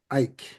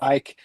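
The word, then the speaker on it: Eick: Matias Ike. Spelled E I CK. I think that's right. I mean, it might be Matias, but yeah, I think Ike is the right uh pronunciation there with album is called Lullabi.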